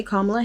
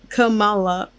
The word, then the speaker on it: Kamala: constantly introduce herself with the emphasis on the second A in her name. There's a population of people who think Kamala or Camilla, wait, I said that wrong, but Kamala or Camilla is the